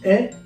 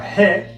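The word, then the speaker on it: へ: So sa structure natin dito, we start with the place, which is Japan, followed by our particle e, or he, pronounced e, then the purpose, hataraki, then particle ni, and lastly, directional verb to go, ikimasu.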